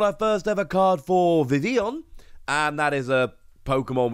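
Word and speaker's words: Vivillon: first ever card for vivion and that is a pokemon which is very hard to pronounce often called vivillion it's not there's no third eye in there but it came around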